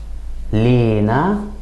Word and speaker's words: لنا: For example, in Egyptian, we tend to put some stress on the first syllable and add kind of an E sound, so it would sound more like Lena.